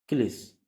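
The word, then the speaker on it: cliché: अगला वर्ड है CLICHE, क्लिस। तो यहाँ पे ई का उच्चारण ए हुआ। अगला वर्ड रूल है, जब किसी, सॉरी यहाँ पे जो एक मिनट, रूल नंबर 6 ये जो CLICHE, इसे क्ली से पढ़ते हैं।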